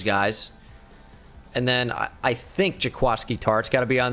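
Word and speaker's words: Jaquiski: i'm still upset that his name is jaquasky when it's spelled jakwisky bothers me a lot so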